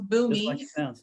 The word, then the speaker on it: Boomi: I've not heard of boomi how do you spell that or maybe you could put it in the b-o-o-m-i okay just like it sounds boomy okay and can you